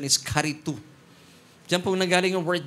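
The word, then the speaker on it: χαριτόω: Sabihin niyo nga po karitu. Nasanay tayo sa charito e no? Parang si Charito Solis pero the right pronunciation is karitu.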